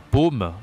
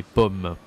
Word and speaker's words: pomme: Ça se dit pas paume, d'accord, mais pomme.